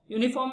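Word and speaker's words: uniform: example आपके सामने है, अ यूनिफॉर्म, यूनिफॉर्म में देखिए आप यू पहला अक्षर है, लेकिन यू की आवाज वोवेल्स वाली नहीं बल्कि कॉन्सोनेंट वाली आवाज है, पहली आवाज, पहले अक्षर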